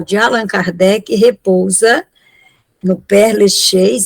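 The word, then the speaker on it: Père Lachaise: o despojo mortal de Allan Kardec repousa no Perle Chez é isso eh essa esse cemitério pronuncia aí em francês pro povo saber porque eu não sei tá certo Dona Vilan perlees É isso mesmo tá mas é assim esse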